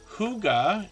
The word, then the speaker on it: Hygge: Huga is how we pronounce that word, Hygge, and it means peaceful, cozy, peaceful home in Danish.